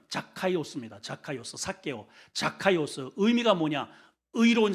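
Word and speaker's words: Ζακχαῖος: 이름이 히브리 저기 헬라식 발음은 자카이오스입니다. 자카이오스.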